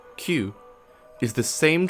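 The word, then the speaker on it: 九: in Japanese is pronounced Q this number has become a Superstition because the Q sound is incredibly similar to KU which means such things as despair pain and suffering so the reason why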